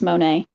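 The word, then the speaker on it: Moné: if you see her name, it has the thing, the Okay, little thing over the E, so it's Monet.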